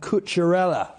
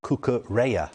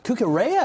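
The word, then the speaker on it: Cucurella: talking about mark at couturella seen him on social media today deal done yeah i've been told the correct way to pronounce his name is mark cooker raya cookerya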